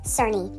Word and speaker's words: Cerny: My apologies, Amanda's last name is pronounced Cerny.